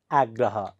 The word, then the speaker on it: आग्रह: संगसंग उच्चारण गर्नु होस आग्रह आ ग्र ह आग्रह मच्छिंद्रनाथ मच्छिंद्रनाथ नुस